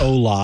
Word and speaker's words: Hola: It's like Ola, I think. Hola. Oh, it probably is Ola, not Hola. Yeah, but the H is silent in Spanish anyway.